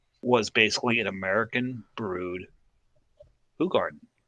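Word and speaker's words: Hoegaarden: what people knew is um as americans were pronounced at hogarden but it's actually pronounced who garden who garden yeah yes and um we didn't really know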